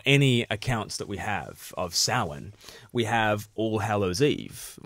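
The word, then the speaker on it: Samhain: themselves and they want to say it's the Souren thing si ma che i n but in sort of Gaelic it's pronounced salan it's it's it looks but it's pronounced salan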